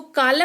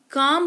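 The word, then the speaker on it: calm: इसको कालम नहीं काम पढ़ते हैं यानी कि शांति।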